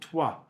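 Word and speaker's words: Troyes: He's from a city called Tua in uh it's spelled T R O YS on the map of northern France.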